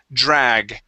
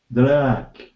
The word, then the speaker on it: drag: word drag first so give me a good a sound there in the middle the word is drag drag okay and with that